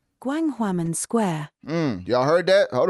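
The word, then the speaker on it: Gwanghwamun: Jarvis is about to pronounce this correctly. Gwanghwaman Square.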